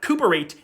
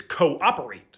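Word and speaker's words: cooperate: not reenter it's re-enter it's not cerate it's co-operate the origin of the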